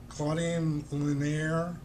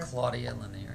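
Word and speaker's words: Claudia Lennear: Claudine Lanier. Is that, did I say it right? Claudia Lanier, yeah.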